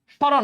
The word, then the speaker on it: স্মরণ: সম্রণ না স্মরণ বলো, তাহলে ময়ের কিন্তু কোনো উচ্চারণ নাই।